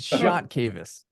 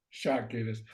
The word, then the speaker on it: Chakevis: You were kind of close. It's Shot Cavis. Shot Cavis.